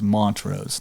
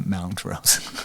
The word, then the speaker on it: Montrose: But it's it's it's Montrose, not Mountros.